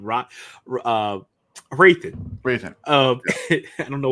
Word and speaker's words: Hrathen: Ro uh Rathan. Raithan. Um I don't know why it's like it's the H I think is always like throwing me off. Yeah. It's like raan. It's just the H is silent.